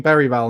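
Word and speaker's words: Bergvall: down the line to bergville lots of people are calling beral now but I can't quite say it right because I got a bit of a defective ass I'm GNA stick with bergville I'm also not Swedish so I shouldn't be expected to say it in exactly the right Swedish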